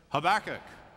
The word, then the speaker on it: Habakkuk: to pronounce isn't it how back it let's say it together Habakkuk good job tobacco was the